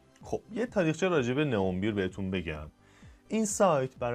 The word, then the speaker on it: N11: نئون بیر، نه که توی زبان ترکی همون نه هستش و 11 رو بهش میگن اون بیر. بعد توی ترکیه این تلفظ میشه به سایت نئون بیر.